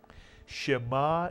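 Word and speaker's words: שמע: is only one syllable how would you pronounce this one syllable word shema is correct not ma but shema and what does shema mean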